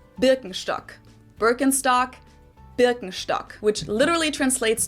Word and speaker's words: Birkenstock: So English speakers usually say Birkenstock. In German, we say Birkenstock.